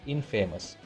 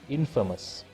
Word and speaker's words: infamous: We cannot pronounce that word as infamous, although we add in at the start of the word. The opposite form of the word famous it is infamous. Not infamous, it is infamous.